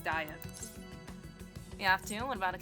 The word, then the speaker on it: Diet: also I just realized I've been pronouncing diet wrong because I was like there's no way diet like a diet so I was like it's like be it or something okay um it's diet the afternoon went about